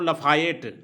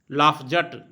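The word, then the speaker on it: Lafayette: जैसे अमेरिका में कहा जाता है इसको लफायेट, अमेरिका में इसको बोला जाता है, हम लोग लफायते बोल रहे हैं, अमेरिका में इसको बोलता है लफायेट। और फ्रेंच में इसको बोलता है लाफजट।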